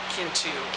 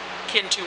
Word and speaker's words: Kintu: And even though the introduction tells you how to say Kintu with a soft CH, Kintu, it's kind of hard to look at the K and not say Kintu, right? And that's possibly, again, the American in me.